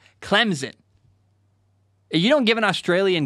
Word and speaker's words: Clemson: Like, there's no Z sound in Clemson. Well, I'm not going to lie. That's how I say it. I say Clemson. Clemson.